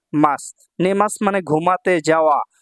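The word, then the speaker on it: ます: যে সমস্ত শব্দগুলোর শেষে মাস আছে এই দেখেন মাস সু এই সু শেষে থাকলে সু উচ্চারণ মাস হয় মাস সুদ এইভাবে উচ্চারণ হয় না ঠিক আছে মাসু হয় না মাস হয় এক কথায় সহজভাবে আপনারা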